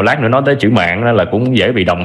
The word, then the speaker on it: mạn: Mạng. Mạng, đó, ai mà sắc tướng ngôn từ là sẽ thấy liền. Đọc đúng là phải là sao?